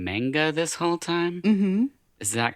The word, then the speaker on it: manga: his stuff out um another comic book or Manga artist I'm doing or reading sorry um I just want to tell you I've been saying manga this whole time is that common or did